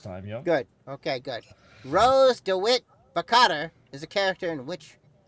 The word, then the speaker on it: Rose DeWitt Bukater: Which film features the character Rose DeWitt Bukater?